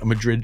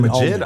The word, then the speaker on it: Majid: That's produced by Madrid Jordan, but Jordan, not the Madrid guy. Jordan. Majid. Jordan. Is it Majid?